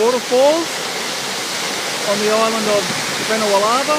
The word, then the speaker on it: Vanua Lava: anyway, here at the waterfalls on the island of Benawalava, if I pronounce that right, Benawalava. Yes. And the district name is Sasara.